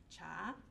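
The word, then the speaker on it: 茶: the northern dialect of Chinese Mandarin and the pronunciation of the word for T is cha right so that's why you get words like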